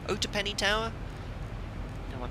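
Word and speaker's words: Otopeni: two zero Niner and it's pronounced Oh - penny Oh - penny Tower and one pronounced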